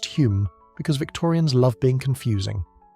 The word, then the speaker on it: Home: That's Hume, but pronounced Hume because Victorians love being confusing.